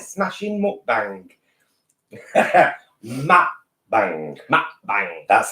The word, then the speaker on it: mukbang: And welcome to a right smashing mukbang. Mukbang. Mukbang. That's how it's pronounced properly.